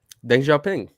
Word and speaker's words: Deng Xiaoping: How is it pronounced? Deng Xiaoping.